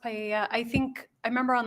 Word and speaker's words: paella: to be used to cook paella. I'm not sure if that's how you pronounce it at the party. It's pronounced paella.